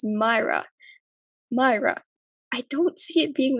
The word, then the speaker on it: Maira: But I've also had people straight up call me Mara, and it's weird because like I would tell them like my name is Myra.